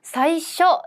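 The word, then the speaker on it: 最初: 사이쇼 처음이니까 장음이 없다였었죠.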